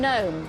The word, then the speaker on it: gnome: laundry Billy in language which letter is silent in the words NN and gnome G correct DLT in finance